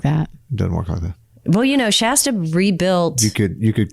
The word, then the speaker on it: Shasta: that well you know shasta rebuilt you could you could cook fish and broccoli in it um it's pronounced shaysta stuff i used to